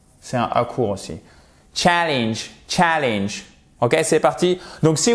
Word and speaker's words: challenge: Challenge, challenge. pas vous voyez, c'est pas challenge, évidemment, c'est challenge, okay?